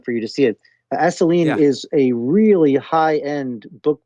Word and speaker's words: Assouline: Asoline is a really high-end book publisher for coffee table books. It's spelled Assouline. And so Asoline.